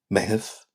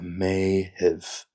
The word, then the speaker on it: Meitheamh: A night June, Meitheamh. Meitheamh. Meitheamh. Slowing that down like a May-heave.